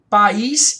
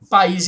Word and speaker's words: país: Aqui você tem, ó, um I formando sílaba sozinho, tônico, em hiato, formando sílaba sozinho, seguido de S, que é a acentuação dos hiatos.